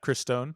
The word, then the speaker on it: Christone: First matchup is correct me if I'm pronouncing this wrong. Christone? Yeah, Christone.